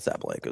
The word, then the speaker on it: Sabalenka: Well, you know, we were talking about Sabalenka is the proper way to say it.